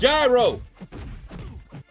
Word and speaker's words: gyro: L Shadow's pronunciation better it's gyro like a gyroscope see this is what